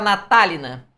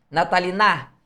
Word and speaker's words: natalina: Você fala natalina, nataliná não. Você fala natal na. O li é o mais forte.